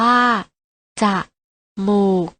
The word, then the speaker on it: จมูก: กัน นะ คะ ตุ๊กตา จมูก ออก เสียง ว่า จะ หมูก พร้อม กัน นะ คะ